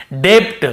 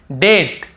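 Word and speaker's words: debt: ब को नहीं पढ़ेंगे मान लो ये नहीं होता तो हम कैसे पढ़ते डेप्ट हम कैसे पढ़ते ऐसे पढ़ते हम डे आधा ब और ट डेप्ट ऐसे पढ़ते लेकिन क्योंकि हमें बी को नहीं पढ़ना है टी के पहले तो केवल डेट डेट फिर देखिए डाउट डाउट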